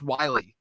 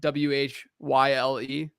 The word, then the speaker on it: Whyle: Last week it was Josh Wiley to Tennessee. That's how you say it, right? WHYLE, Wiley, isn't it?